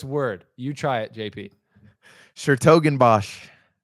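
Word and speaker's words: 's-Hertogenbosch: Schertogenbosch. I think it's a completely silent S.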